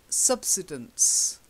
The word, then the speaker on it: subsidence: Then, subsidence. Subside, but subsidence.